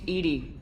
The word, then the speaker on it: EDI: airlock is a jar why are you named Edie Ed is the phonetic pronunciation of Ed that is an acronym for